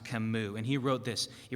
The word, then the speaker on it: Camus: who died in 1960 Albert that's pronounced kammu and he wrote this